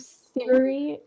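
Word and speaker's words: Psyria: on the Isle of Syria. Okay. I'm pronouncing it Syria, but I doubt it's Syria, like modern day Syria. It's spelled with a P. P-S-Y-R-I-A. Oh, yeah.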